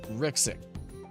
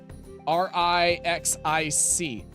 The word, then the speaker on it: Rixic: Rixic. R-I-X-I-C. Rixic. I think is how the name is pronounced.